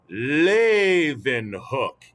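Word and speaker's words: Leeuwenhoek: familiar to you it's pronounced lathe and hook and can you all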